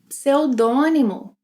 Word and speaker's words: pseudônimo: Pseudônimo, pseudônimo. Words starting with PS will have both consonants being pronounced.